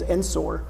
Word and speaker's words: Ensor: The pronunciation, I just say James Ensor. And so Or- Because it's Ensor, but you said yeah, Enzer, and it Enzer. sounded really more European. And frankly, the guy was European.